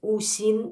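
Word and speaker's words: 五行: taiji, vous pouvez chercher Wu Xing ou les cinq éléments. En russe, cela s’écrit avec un trait d’union, u-xing. Voilà comment ça se prononce, Wu-Xing.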